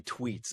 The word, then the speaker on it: Treets: Is it Tweets?" And he's like, "Yeah, it's Tweets."